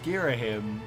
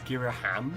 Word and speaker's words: Ghirahim: ham otherwise it's because his name's Ghirahim but I think the first time I really I read it is gira ham yeah yeah yeah but